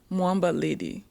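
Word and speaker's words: Mwamba Lydie: Um, my name is Moa Lady, but everybody call me.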